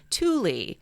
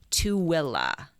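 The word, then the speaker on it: Tooele: our good friends in utah so we were pronouncing the county as thule spelled t-o-o-e-l-e apparently we should have been saying to willa so we apologize to those good people of of two will county and thank you corey for reaching out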